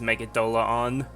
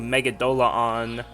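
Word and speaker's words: Megidolaon: fast but uh it's much closer to how I think it should be pronounced which is me DOA on is it confirmed somewhere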